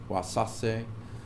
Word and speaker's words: Wasáse: And he's got his book, which I also can pronounce, called Wasase or something like that. Wasase, I think it is. There's an accent over the second A. Wasase.